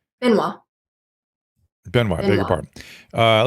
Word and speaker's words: Benoit: Is it Benois or Benoi? Benois.